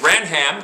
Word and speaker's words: Branham: It says, I put the soft A, so I know that's an A sound, so Bran, and then M, the S sound for the E, the soft E, Branham.